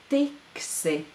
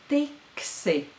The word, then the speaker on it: tiksi: Tiksi. And this word is in its future form. Therefore, I would translate it as will get. Tiksi. Tiksi. It's a simple 2-syllable word. I think we can start by pronouncing it together twice.